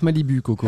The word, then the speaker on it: Malibu Coco: Alors ça se prononce Malibu Coco. Il y a beaucoup de gens qui disent pas Malibu Malibu.